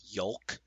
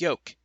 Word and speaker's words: yolk: Like he said yolk. Like he pronounced the L. That has an L in there. Why would he not pronounce it? Because every time I've ever heard anyone say it, it's just yoke.